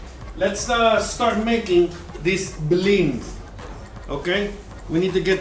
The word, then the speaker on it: blini: time it is not bellini and it is not a pancake it is a bling and it is a great okay all right so let's uh start making this bling okay we need to